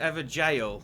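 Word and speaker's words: Evergaol: The Evergals, is that how you say it? I think is it ever jail? I think it's pronounced jail. It's like an old Oh. school way of spelling jail.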